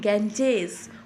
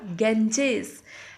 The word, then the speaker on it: Ganges: Now see the pronunciation of this word, Ganges. What is this word? Ganges.